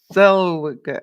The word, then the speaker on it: Zellweger: Oh, Renee Zellweger.